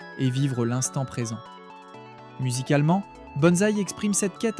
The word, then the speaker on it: BNSI: Originaire de Tokyo, le groupe BNSI prononcé bonzai a lancé ses activités en août avec le slogan percutant delete noise.